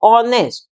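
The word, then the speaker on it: honest: वो ए रही है ओ की ऑनेस्ट ऐसे हम बोलते हैं इसको ऑनेस्ट तो साउंड वॉवेल साउंड है इसलिए इससे पहले हमने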